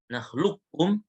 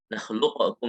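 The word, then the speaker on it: نخلقكم: Boleh baca langsung ke kaf, nakhlukum, boleh disisakan sifat isti'la di qafnya. Bukan qalqalah ya. Nakhluqukum enggak boleh.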